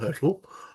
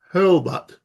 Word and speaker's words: Hurlbut: um hurtle H that's it's not hurtle hbut I'll do apologize if